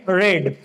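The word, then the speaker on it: read: रीड, रेड, रेड, यानी कि इसकी जो थर्ड फॉर्म होती है वो रेड होती है। दिखने में तीनों एक जैसी होगी लेकिन उसका जो प्रोनाउंसिएशन है वो रेड होता है थर्ड फॉर्म का।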